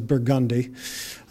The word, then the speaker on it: Burgundy: a poetry, Rampart, Perdido, Burgundy, which we pronounce as Burgundy, some even named for